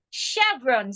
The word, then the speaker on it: chevron: Chevron, C-H-V-R-O-N is pronounced chevron. The C-H there sounds like S-H.